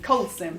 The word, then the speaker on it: Colson: I've just realized normally I check that I'm pronouncing people's names right did I get your name right it's Sarah Coulson Colson yeah that's all right I was close so